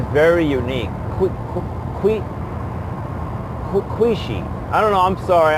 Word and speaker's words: Quchee: So yeah, the name of this being is, okay, it's pronounced Kwee-Shee, but it starts with a Q. It was mentioned to me in my language, the English language is a Q, so it's pronounced Kwee-Shee.